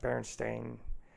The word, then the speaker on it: Berenstain: Berenstain. Yeah, it's spelled different, or like Curious George, and it